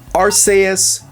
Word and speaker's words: Arceus: Arus is correct because of the rules of the English language, but it also requires you to rebel against the official pronunciation.